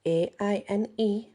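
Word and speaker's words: Áine: And the next one is, now it can be pronounced a few ways. It's Aine. Some people just pronounce it in. Some people pronounce it Aine. It just depends.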